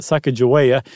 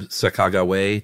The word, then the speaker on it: Sacagawea: Lewis and Clark fame, spelled it Sahkah, emphasis on that, Garwea, so Sacagawea or Sacagawea. But then the Shoshone, which is a Native American tribe that, we'll get to the importance there. They say actually it is Sacajawea, and it means boat